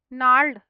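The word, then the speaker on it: gnarl: twist है ठीक है नाड इसमें जी साइलेंट है नार्ड ठीक है और डी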